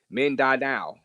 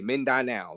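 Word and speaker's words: Mindanao: oh all right hey this how you pronounce it uh men die now okay men die now that area men die now I was pronouncing it horribly wrong so uh men die now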